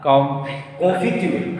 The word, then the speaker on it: confiture: Et de la Confiture.